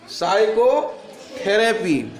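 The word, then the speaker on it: psychotherapy: पी ए साइकोथेरेपी देखो एस यहां पे एस है एस से पहले पी है उसे पी को आपको नहीं पढ़ना है क्योंकि इससे पहले जब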